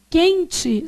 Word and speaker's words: quente: Quente, você fala assim, ó. Quente. Esse U que está aparecendo aqui é nulo.